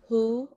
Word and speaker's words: HU: So um I am on Facebook at Who Enterprise 13 is the Facebook page, and I will put that in the chat. Um and at And that who is spelled HU, right?